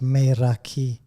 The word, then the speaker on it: Meraki: I mean, it's a Greek word, and it's pronounced Meraki, and what it means is the essence of yourself.